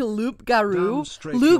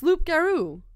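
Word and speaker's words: loup-garou: those are neat Concepts did not just say Loop Garo Laro yeah it's Loop garoo that's what it is that's the French pronunciation damn stra your thirst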